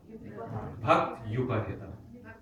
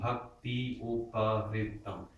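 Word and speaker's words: bhaktyupahṛtam: Not bhakti. There should be no E sound there. Bhakti. In that quarter, there is no E at all. Tadaham bhaktyupahitam. Again, if you add the E, you add an extra syllable. Tadaham bhakti upahritam. 9 syllables. You've got too many. We need 8.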